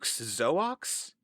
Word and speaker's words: Zoox: this company's name zuk zoox zox zuk's co-founder yeah it's so weird Zoo Yeah because sometimes the x is a is a z sound yeah oh it would